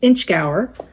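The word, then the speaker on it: Inchgower: 11 year from space-eyed I've looked up how to pronounce this and it is exactly what it looks like it's inch Gower uh Distillery and it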